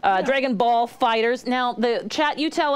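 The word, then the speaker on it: FighterZ: somebody said it was fighter so I'm gonna go with that Telmo says it's officially pronounced fighters yeah but Z because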